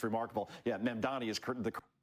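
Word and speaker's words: Mamdani: Especially when you have how do you pronounce his name again? Sharpton called him Mandam Annie. He added nine letters to the guy's name. It's it's remarkable. Yeah, Mandani is the correct way.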